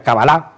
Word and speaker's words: cábala: esta terapia es cabalística la cabra pronunciada exactamente sería cábala el acento en hebreo